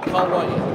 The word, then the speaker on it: Kauai: What is it? Kauai. Kauai? Kauai, yeah. I'm going to say it correctly.